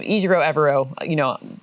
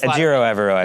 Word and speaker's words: Ejiro Evero: Ejiro Evero. Okay. You got it. Ejiro Evero.